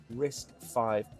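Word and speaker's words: RISC-V: He argues old style EVM contracts will continue to work and will be fully two-way interoperable with new risk five contracts. How is it pronounced?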